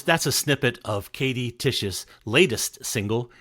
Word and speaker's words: Tich: Listeners, that's a snippet of Katie Tich's latest single. It's called Stress Dreams. And you can find Stress Dreams and Crossfire, as well as her other catalog, under her name, Katie Tich.